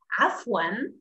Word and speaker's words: عفواً: Afwan, afwan, which is afwan, afwan. You will not forget that. Afwan, the answer, when someone says shukran, you should say afwan, afwan, okay?